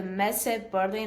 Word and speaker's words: Messe Berlin: This is happening at the Messe Berlin. Am I pronouncing that correctly?